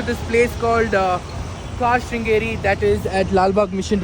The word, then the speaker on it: Car Shringar: store and एज I pronounce रंग सो the pronounce is कार कार श्रृंगार कार श्रृंगार okay so I will keep that right there